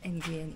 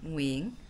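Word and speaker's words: Nguyễn: How you say it then? Nguyen? Not Nguyen, Nguyen.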